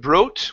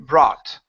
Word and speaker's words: brought: is the word brought instead of broght with an O sound it's an ah sound bra brought but good and brought